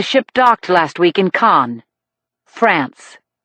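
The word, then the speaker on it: Cannes: I told him she learned about the killings when the ship docked last week in Khan France. I know where cans is. Jacobe said pronouncing it in the plural.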